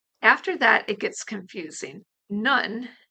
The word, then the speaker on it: Nun: None, spelled Nun, means nothing, but some